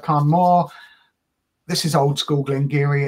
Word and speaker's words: Glen Garioch: it's a 1988 gleni it's looks like a glen garok but it's pronounced gleni I'm told um a little town of old